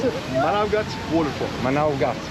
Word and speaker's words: Manavgat: Manavgat. Manavgat. Yes. Turkish pronunciations.